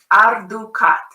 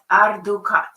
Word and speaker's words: Ardukat: But just to know that to pronounce it is Ardukat. Ardukat.